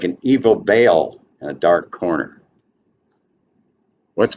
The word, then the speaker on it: Baal: Some say Baal. Baal generally is how people pronounce it.